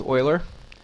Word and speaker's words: Euler: uh formulas and um this is how you pronounce it it's Oiler not you it's Oiler um okay so here